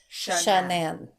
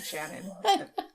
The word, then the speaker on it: Shanann: Her name is Shanann. Yeah. I know. At first I was saying Shannon. It took me a second to figure out how to say it.